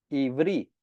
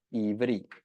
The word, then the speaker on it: Ivri: Entonces el título, el nombre hebreo viene del hebreo Ivri. Amén. Así es como se escribe y se pronuncia Ivri.